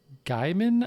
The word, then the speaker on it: Gaiman: are written by neil gaiman i'm going to guess is how it's pronounced neil gaiman it's gaming okay shame on you